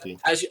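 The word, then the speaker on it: Vallaki: Valaki.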